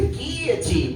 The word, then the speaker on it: guillotine: Now granted, you don't always kill a team, but sometimes And don't be like my wife who remind me that it's pronounced the guillotine, CUZ THAT RUINS THE JOKE.